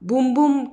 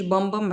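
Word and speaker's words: Bum Bum: بالاسباني وكده وهو اسمه برازيليان بوم بوم كريم مش بمبم عشان في ناس بتنطق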